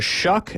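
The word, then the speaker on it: Shough: Kyle McCord number four Tyler shuck as Allan taught us the correct way to pronounce that uh from Louisville then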